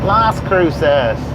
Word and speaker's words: Las Cruces: Deming 22 miles to La Cruces Las Cruces don't tell me it don't have a s pronunciation in it if they didn't want me to pronounce the S they wouldn't put it in there don't be a Target